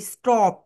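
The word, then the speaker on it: stop: এস এর পরে টি রয়েছে, এই কারণে এটাকে আমরা টি বলবো।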